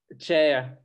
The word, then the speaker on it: Chaya: Chaya.